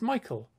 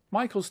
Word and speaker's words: Michael: For example, the main character's name is Michael, because that sounds a bit like the words my kill.